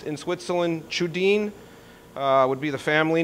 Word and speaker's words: Tschudin: is pronounced in Switzerland chudin uh would be the family name but in America we don't pronounce the T and it's normally called a shuin uh but it's actually